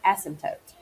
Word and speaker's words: asymptote: to describe is an asymptote asymptote yes I think it's a ssy MP t-- o-- t e the P is silent asymptote okay essence up so